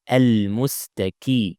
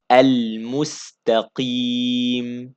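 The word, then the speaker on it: المستقيم: Mus ta ta Not musta Qaf with a kasra still heavy, so don't make it kaf. Some people make it like this, al mustaqi Not ki.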